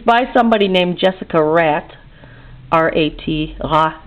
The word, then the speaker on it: Rat: It's by somebody named Jessica Rat. R-A-T, rat, it's pronounced in French.